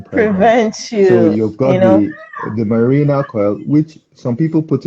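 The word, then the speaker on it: Mirena: a there is something that you mentioned the marina coil is that the correct pronunciation yes that's correct it sounds it sounds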